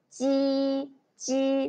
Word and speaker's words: 鸡: 七，七，七。But when you pronounce 鸡鸡 there is no airflow, okay?